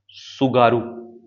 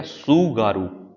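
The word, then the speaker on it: Tsugaru: होकायडू एंड होनशू is separated by सुगारू। सुगारू T silent रहेगा। सुगारू एस यू जी ए आर यू सुगारू state.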